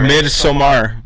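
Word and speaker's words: Midsommar: watch it watch mid-summer mid somar it's spelled like mid-summer but with an o instead of a u beautiful all right and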